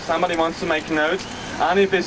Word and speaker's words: Anif: So if somebody wants to make notes, Anif is spelled A-N-I-F, Anif.